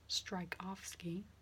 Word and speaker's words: Strakowski: However, considering it's pronounced Strykowski, I'm not convinced it's a great name for a doctor.